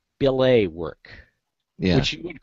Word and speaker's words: billet: It's really a French word, so it's pronounced billet, but nobody knows that.